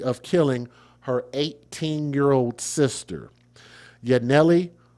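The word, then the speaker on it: Yanelly: killing her 18-year-old sister, Yanelli, which is spelled Y A N E L L Y, like Yah, and then Nelly Solorio Rivera and her three-week old niece, Selene Cerio.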